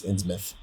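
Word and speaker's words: Innsmouth: or ins mouth it's it's spelled ins mouth but it's insouth oh okay yeah I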